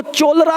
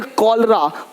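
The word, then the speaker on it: cholera: अब देखो, चोलरा नहीं पढ़ेंगे, चोलेरा, इसको पढ़ेंगे कॉलरा, कॉलरा हो गया।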